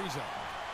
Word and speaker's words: Ariza: by Ariza. And it's Houston on the break. Oh, that's how you pronounce his last name.